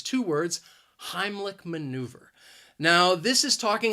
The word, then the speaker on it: Heimlich: syllable even though it's spelled with a c h it's not a ch sound it is more of a k k sound heimlich and maneuver has three